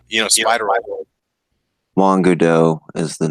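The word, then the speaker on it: Guaidó: of letters, but yeah, it's Guaido or Kudo, however you're. Guaido. Yeah, Juan Guaido. Yeah, that's it.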